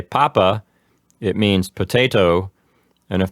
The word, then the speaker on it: papa: Papa.